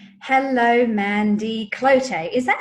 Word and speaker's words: Cloete: Well, there's many versions, but I respond to all of them. Oh, how do you say it? So there's Cloete, Cloete, yeah, Cloete, How do you yeah. say it? I say it as Cloete now. Poet.